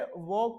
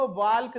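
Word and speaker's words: walk: है बेटा आपका देखो वक होता है चलना डब्लू ए एल के लेकिन वह वाल्क नहीं पढ़ा जाता बेटा लिखा तो डब्लू ए एल के होता है एल साइलेंट होता है उसमें एल बोला स्पेलिंग तो पढ़ेंगे हम डब्लू ए एल के लेकिन बोलेंगे क्या वॉक क्या बोलेंगे ऐसे ही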